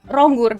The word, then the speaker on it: Ronggur: Ronggur. Benar. Eh nama belakang gua si cuman stage name actingur pakai. Oke. So, it's it's just easier for Americans or Ada ada alasannya soalnya Ronggur dulu growing up enggak pernah dipanggil di